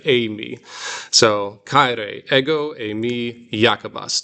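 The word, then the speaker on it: εἰμί: So remember this epsilon iota is like it's like freight train A. So it's like Amy.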